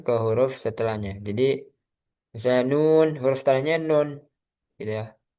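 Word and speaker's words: نون: Nah, ini yang membedakan hurufnya sama gitu ya. Cara membacanya sesuai huruf hijaiyah. Jadi kalau nun dibaca nun bukan na ya, bukan berharakat tapi dibaca hurufnya. Nun, huruf nun. Kalau qof, qof gitu ya,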